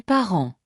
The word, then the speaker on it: parents: Les parents, les parents. Notice the S is silent.